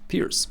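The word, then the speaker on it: Pirc: into the Pierce defense guys told me last time that it's not a perk defense that it's a Slovenian last name that should be pronounced Pierce so let's do it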